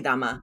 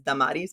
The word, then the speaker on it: Dama: I'll sayar and they'll say Damaris and I'm like just call me dama like so so the like the human brain always wants to associate it to what they've already heard so the common pronunciation perhaps is dadis but that's just not why my parents named me so anyway that's why I go by dhama I'm like let let's just go by dama whatever no that's cool